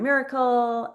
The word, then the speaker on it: Myracle: and um so Lauren Miracle I want to spell miracle for you guys because it's the miracle It's spelled M Y R A C L E which you could probably find.